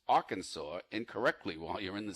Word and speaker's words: Arkansas: Apparently, it's strictly prohibited to pronounce Arkansas incorrectly while you're in the state.